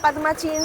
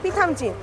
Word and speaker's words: Pithamchin: তো সকাল থেকে কিন্তু উচ্চারণ ভুল করে যাচ্ছি। পাদমাচিন পাদামচিন এসব বলে যাচ্ছি। কিন্তু উচ্চারণ ওটা না পিথামচিন।